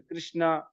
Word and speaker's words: कृष्ण: वैसे प्रोनाउंसिएशन जो है कृष्ण है, कृष्ण ऐसा है, कृष्णा। कृष्ण, धन्यवाद न नहीं होता, प्रभु जी। ण ण, हाँ कृष्ण।